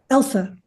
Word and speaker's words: Elsa: His daughter, is it pronounced Elsa? Elsa.